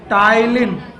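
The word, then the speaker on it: ptyalin: enzyme में नाम है तिल टायलिन नहीं पी को साइलेंट करना है तिल पढ़ना है इट इस नॉन आज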